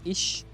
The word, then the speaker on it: Ix: it's the same thing if you have it like an IX it's ish like one of the